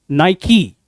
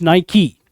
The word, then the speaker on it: Nike: इसको miss pronounce करते हैं हम नाइक, but it is not Nike. The correct pronunciation is Nike. It's not Nike, it's Nike.